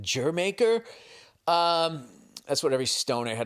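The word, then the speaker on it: D'yer Mak'er: It's actually Diremaker, but you're supposed to pronounce it Jermaker.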